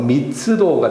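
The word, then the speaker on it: 密度: 정답은 3번 미스도가 되겠죠. 그런데 우리가 여기에서 주의할 점은 도자는 도는 우 발음이 들어가지 않는다는 점이 점을 반드시 참고를 하셔야 되겠습니다.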